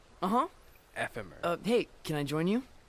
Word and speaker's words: Ephemer: Ephemer. Hey, can I join you? I never knew how to pronounce that name until now.